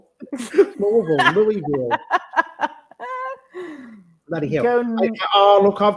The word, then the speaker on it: Louisville: Yes, I found Louisville, but you don't pronounce it Louisville, do you? Louisville. You sound like you've got marbles in. Yeah, Louisville. Louisville.